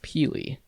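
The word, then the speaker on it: Pelee: mainland ontario is pili island yes here is pronounced pili in the middle of lake erie a canadian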